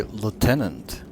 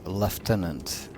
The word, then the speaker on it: lieutenant: the pronunciation it's um it's usually Lieutenant but here it's leftenant which begs the question for the do not engage main UK pronunciation or some something like